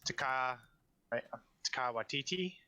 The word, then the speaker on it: Taika Waititi: So the guy who voiced IG-11 is Taika Waititi. I believe that's how you pronounce it.